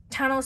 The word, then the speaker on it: Tano: Tano sounds like the word Thanos, right guys?